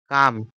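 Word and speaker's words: calm: আছে তারপরে কামনেস কামনেস কাম কাম মানে কি কাম মানে হচ্ছে স্থির সি এ এল এম এল উচ্চারণ হবে না এটা উচ্চারণ কি হবে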